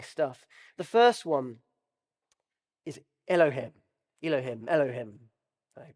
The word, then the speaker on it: Elohim: really really interesting stuff the first one is Elohim Elohim Elohim you pronounce it which means the Creator so you